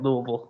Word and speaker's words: Louisville: Louisville, as we say it, Louisville, all like one syllable.